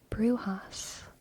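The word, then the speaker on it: Brujas: funny part is that in Spanish it's said as brewhas which means witches interesting sh sh shark shark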